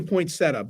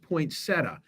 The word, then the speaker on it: poinsettia: good look um okay it's not really a point setup but but that's what I'm calling it just for ease I'm looking at your comments and track of all of this please it's pronounced poinsettia who said that Jim okay hey Jim did